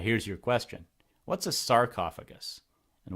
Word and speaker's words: sarcophagus: your question what's a sarcophagus and why does it rhyme with esophagus well Sark's is the